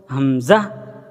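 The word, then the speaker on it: همزة: থেকে একদম উচ্চারণ করব হামজাহ হামজাহ হামজাহ এবং এই হামজা উচ্চারণের সময় কোন টান হবে না সেদিকে আমরা খেয়াল রাখবো তারপরে আসি ইয়া ইয়া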